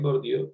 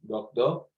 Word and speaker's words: Bourdieu: Esto es una cita de acá en Colombia, le dicen Bourdieu, pero realmente su pronunciación en francés es Bourdieu, Pierre Bourdieu o Pierre Bourdieu, que ya miraremos porque ambas formas son correctas.